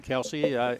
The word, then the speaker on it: Kelce: The Chiefs tight end Travis Kelce and the Eagles center Jason Kelce. Is that the right pronunciation? K-E-L-C-E. Yes, Kelce.